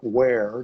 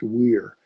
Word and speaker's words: Wear: And the river that runs, it looks like Wear, Wear, but it's pronounced Weir.